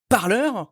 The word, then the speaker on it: Parler: petit peu revenir c'est parleur je vais j'ai décidé de le prononcer comme ça maintenant à l'américaine parleur qui est cette plateforme